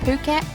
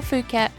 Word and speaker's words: Phuket: Puket or Fuket, however you choose to pronounce it, is Thailand's largest island.